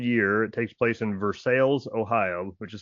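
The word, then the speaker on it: Versailles: in its third year it takes place in versales Ohio which is spelled just like Versa in France but it's pronounced for sales um the BMI Event Center and this is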